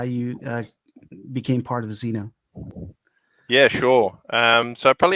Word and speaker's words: Xeno: Am I saying it right, Xeno? Yeah, that is that's the correct name. Cool. So the floor is yours, man. Give us a little introduction and then how you became part of Xeno.